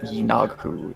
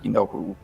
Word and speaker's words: Yinaghu: Last session, though it was amusing, I pulled out the pronunciation guide after session, and it is Yinaghu instead of Yinohu.